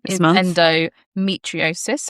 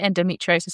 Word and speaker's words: endometriosis: So this week, this month even endomtriosis, I should say it right, endometriosis awareness month.